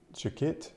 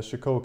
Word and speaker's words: Chicot: me and give me giving your full of the right pronunciation as Chico she said she used